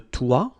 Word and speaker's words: toit: Okay, so la sonnette, le balcon, le toit, remember final T not pronounced, la fenêtre, le grenier.